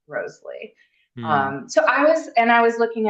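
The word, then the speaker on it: Wriothesley: Southampton's name, Henry Roseley, was supposed to be pronounced Roseley.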